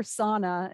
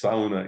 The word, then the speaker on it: sauna: s SAA as you say in Finland or sauna as we say in yeah many parts of the United SAA it's sauna in Finish SAA yeah you pronounce the you